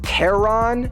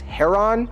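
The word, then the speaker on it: Charon: actually threatening and two the Greek pronunciation has a silent k sound so even though in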